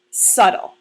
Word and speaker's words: subtle: bit difficult to pronounce that's because it has a silent B so it might be difficult to sound out this word is subtle let's say that word again subtle subtle is an adjective